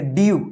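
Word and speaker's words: dew: डब्लू इसको क्या पढ़ेंगे डीयू यानी ध्यान रखिएगा जब लास्ट में ई डब्लू रहेगा तो इसको जो है ना यू उच्चारण होता है यू यू क्या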